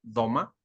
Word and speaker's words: doma: La palabra don del griego doma, que es con acento en la O, doma, significa una dádiva o un regalo.